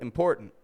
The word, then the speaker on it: important: But most of the time they won't say important, but important. They won't say certain, but certain. So there are some exceptions depending on, where people come from.